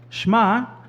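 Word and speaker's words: שמע: palabra oídme viene una palabra hebrea que se pronuncia sma escuchar con atención es lo que significa a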